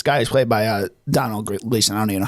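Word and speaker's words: Domhnall: trip with this guy who's played by uh Donald Gleason. I don't even know how to pronounce his name. Um, Brandon Gleason's son. Yeah, I'm pretty sure it's Donal.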